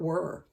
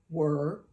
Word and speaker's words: were: Well, what's tricky about it is it sounds like were, but it looks like it should be said we're because it has that silent E on the end.